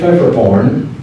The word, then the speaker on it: Pfefferkorn: But the old joke that I used to tell people is that the P is silent, as in swimming.